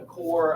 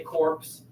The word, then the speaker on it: Corps: Don't say corpse. You'll sound undereducated. I'm here to teach you the right thing. The Corps of Discovery, even though that's not how it's spelled.